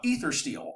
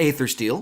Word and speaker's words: Aethersteel: it Ryan so uh ether steel um made by or Aether steel depending on how you want to pronounce it they I love their response when we asked them you know how you pronounce it which is you know depends what part of the country are you from right um and I